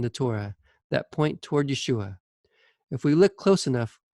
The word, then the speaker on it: Yeshua: use jesus's hebrew name yeshua the name jesus is an anglicized version of the greek transliteration of the name yeshua jesus is not the pronunciation of his original name given at birth yeshua is more likely